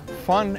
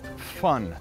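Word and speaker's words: von: I'm Kurt eot Kurt fun eot in German v n is pronounced fun and I'm fun the zither is indigenous to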